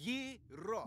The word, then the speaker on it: gyro: Yeah, but in New York, we call them gyros. It's Greek. Now, I got in a fight with our committees about this. He said it's... Yiro.